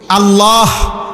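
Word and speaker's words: الله: হা এটার উচ্চারণ কই আল্লাহ শব্দের শেষে যে একটা গোল হা আছে ছোট এটা ক সুবহানাল্লাহ সুবহানাল্লাহ কইলে তো শুধু লামের মধ্যে শেষ হয়ে যায় তো আল্লাহ শেষে আরেকটা হা আছে না এটা কই না উঠে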